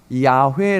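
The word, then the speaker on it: יהוה: 히브리어를 좀 같이 보겠습니다 이 단어가 이어 호와 라는 단어인데 이 단어가 이아 회 라고 읽어 져요 자 그러면 히브리어는 저희가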